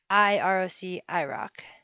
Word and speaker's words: IROC: rock versus iroc um i'm going to be pronouncing a roc a rock and then i roc rock so 2.1 notes a-rock